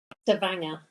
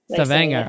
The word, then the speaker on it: Stavanger: Is that how you pronounce it? Stavanger. Stavanger.